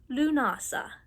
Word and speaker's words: Lughnasadh: It's pronounced lunasa.